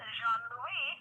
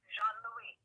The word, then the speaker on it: Jean Louis: Pronounced Jean Louis, which would be Jean with a hyphen Louis. It's not Jean. It's not Louis. It's Jean Louis. Oh, Jean Louis. Yes. Oh, I said Louise.